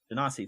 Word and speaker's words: Genasi: They are a how do you pronounce it, Mike? A Genasi? Genasi, thank you.